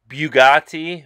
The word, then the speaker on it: Bugatti: Bugatti Divo before it was unveiled it's actually pronounced Bugatti but I'm saying it wrong that's a six